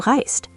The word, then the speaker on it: reist: So you'll see it written as du reist, pronounced like one smooth s t sound.